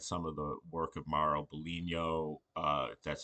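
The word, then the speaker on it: Mauro Biglino: But we were talking about it yesterday and looking at some of the work of Maro Bulino, uh that's how you pronounce his name.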